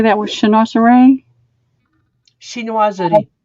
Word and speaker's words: chinoiserie: Chinoiserie. Chinoiserie, kind of design.